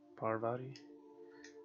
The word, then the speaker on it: Parvati: Parvati?